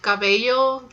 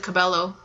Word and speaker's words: Cabello: I think it's cuz I would pronounce it Kibeho just because I am Hispanic but I think I love you I think a lot of people pronounce it Cabello it could be both I actually like to